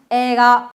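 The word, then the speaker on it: 映画: 영화는 에이가 이렇게 읽지 않고 여러분 좀 끌어지거든요. 에가 에가 됐습니다.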